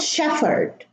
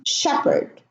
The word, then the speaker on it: shepherd: It's not shepherd. The H is silent as if it's not there. So, time, exhaust, exhibit, exhibition, vehicle, and shepherd.